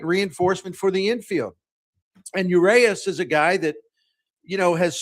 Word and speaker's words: Urias: Yeah, Urias is how I pronounce Urias.